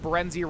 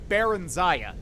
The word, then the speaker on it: Barenziah: So I think it's pronounced Barenziah, not Barenziah.